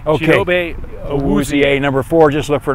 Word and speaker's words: Awuzie: Awuzie, number four.